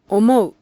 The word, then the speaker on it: 思う: Each is pronounced in a short, clear, evenly stressed fashion. Here are some examples of vowel sequences. はい、 Yes, 上、 top, 思う、 thinks, 青い、 is blue, 前、 front, 家、 house, 田植え、 rice planting, 具合、 condition. Note that there is a syllable, an even space of time for each vowel.